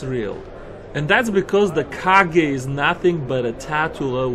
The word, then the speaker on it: Kage: I thought it was Cage, but they told me it was Kage. I guess Cage would be spelled with C.